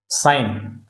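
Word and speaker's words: sign: साइन, तो यहाँ पर बच्चों साइन में जी साइलेंट है, जी का हम उच्चारण नहीं करते।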